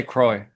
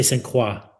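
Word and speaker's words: St. Croix: American Monet. Say Croy. That's how I say it. Okay. How do you say? I say squa.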